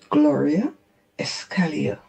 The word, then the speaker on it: Escalia: My name is pronounced Gloria Escalia.